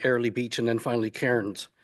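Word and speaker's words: Cairns: Beach, and then finally Kairens, which they of course they pronounce cans incorrectly to my way of thinking.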